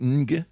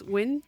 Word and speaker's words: Ng: How do you do that? Or is it Nga? Or Inga? I don't know. It's Win.